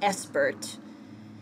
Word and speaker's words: SBIRT: You might be familiar with this term that has emerged from the addiction field in recent years called pronounced ESPERT.